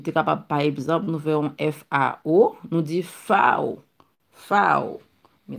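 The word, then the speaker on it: Vau: V en allemand, il est toujours, il n'est pas prononcé tant que V. C'est comme si c'est F lié. Ou dit FAO.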